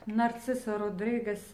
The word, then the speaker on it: Narciso Rodriguez: меня они душат и narciso rodriguez l'absolu если кто то говорит что я неправильно произношу ароматы я произношу ароматы как у нас здесь произносится на итальянском языке не нет надобности изучать